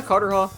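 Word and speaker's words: Carterhaugh: fairy who was said to haunt the uh Carter Hall Woods or yeah cartera that's how you pronounce it cartera Woods in Scotland he supposedly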